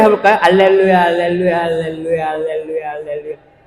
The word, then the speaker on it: 알렐루야: 알렐루야, 알렐루야, 알렐루야, 알렐루야, 알렐루야. 이것도 알렐루 할 때 입술이 어떻게 해야 돼요? 루 해보세요. 루. 이 입술이 튀어나와야 됩니다. 발음할 때. 뽀뽀 해봤어요? 뽀뽀, 그러니까 알렐루야는 약간 아에 이 오 우처럼 모음 발음이에요.